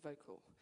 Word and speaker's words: Vokle: Well, for me, I'm really passionate about this great program called Vocal. Using and it's spelled differently. Help me. Vocal spelled Vokle.